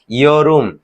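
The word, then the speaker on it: 여름: তাহলে আমরা কোরিয়ান সেটি উচ্চারণ কি হবে, যেটা বসন্তকাল ছিল সেটা কি ফোম, যেটা গ্রীষ্মকাল ছিল সেটা কি ইয়রুম, যেটা শরৎকাল ছিল সেটা কি খাউল, যেটা শীতকাল ছিল সেটা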